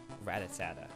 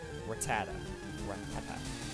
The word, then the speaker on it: Rattata: full of ratas Rattata I honestly always said it wrong I've always said it ratatata I know that's not right it's Rattata rata like this I just